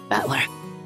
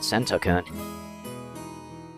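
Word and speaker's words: 戦人: right the first time I usually get called sokun sorry but that's not even close my name is written like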